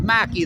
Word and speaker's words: McKay: Paul McKay bro. No, they pronounce it Mackie, they inform me.